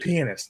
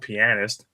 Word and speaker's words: pianist: because it actually is pronounced pianist, not pianist.